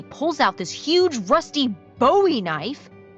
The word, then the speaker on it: Bowie: out this huge rusty Bowie knife. It's actually pronounced Bowie. What? No, it's like the last name, like David Bowie. Different last name.